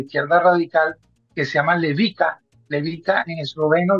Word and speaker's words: Levica: en eslovenia de izquierda radical que se llama levica levica en esloveno levisa se pronuncia porque la se pronuncia como como ese